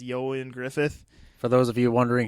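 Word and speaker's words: Ioan Gruffudd: If I'm saying his name right, he is kind of it looks like Ewan Gruvid, but I believe it's pronounced Yoan Griffith.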